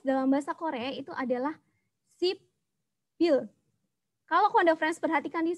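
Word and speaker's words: 십일: Kalau kita bacanya persuku kata dibaca sip il, tetapi kan biasanya orang Korea itu bacanya disambung gitu ya, diseret. Jadi bacanya sibil. Sip il dibaca sibil.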